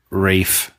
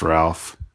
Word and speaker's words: Ralph: a Academy Award nominee Rafe not pronounced Ralph Rafe fins not pronounced fin